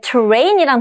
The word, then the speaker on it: terrain: 맨 처음에 terrain이란 단어가 나오죠? 강세가 뒤로 빠집니다.